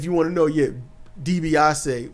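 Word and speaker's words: DiBiase: Um, and if you want to know, yeah, Debbasi was the original pronunciation. I don't know when it turned to Dbiasi, but it was Dbasi.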